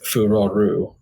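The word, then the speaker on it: Farore: like in English it's for Roar right like the E is silent every time um the Japanese name is furoru uh and if you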